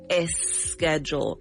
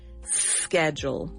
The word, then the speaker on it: schedule: You cannot say esch schedule. You must pronounce the s schedule.